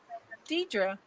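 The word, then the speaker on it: Dedra: you say your name or how do you pronounce it seven Deidra yeah send me you guys send them like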